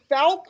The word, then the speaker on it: Fouke: You're the mayor of Fouke, Arkansas. Is that how you pronounce it? Fouke, Arkansas, the home of the Boggy Creek Monster.